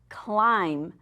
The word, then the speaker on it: climb: Today's word is climb. C-L-I-M-B. Don't forget that little silent, we used to call them ghost letters, that little silent letter at the end.